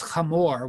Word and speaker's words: Hamor: up how to pronounce his name, because his name is Hamor with a guttural.